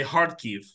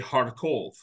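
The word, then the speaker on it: Харків: a word um it's in in Russian it's pronounced all like in in Ukrainian you say heartkiev yeah in Russian they say harkov yeah you know that is these are these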